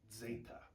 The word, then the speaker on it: zeta: It's like the Z as in kudzu. That's what the kind of sound that zeta makes. There's other pronunciations which just treat it like a regular Z sound. That's what modern Greek does.